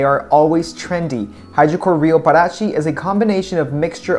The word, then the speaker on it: Parati: Parati, it sounds like Parati, like in Spanish, for you. But it's Parati. I think that's how you pronounce it in Portuguese.